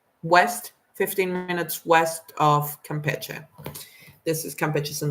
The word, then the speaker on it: Campeche: So I've heard it read as Campeche, but that's not it. It's Campeche.